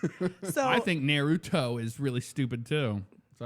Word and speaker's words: Naruto: Naruto okay you know you pronounce it by syllable Naruto Naruto case closed yes just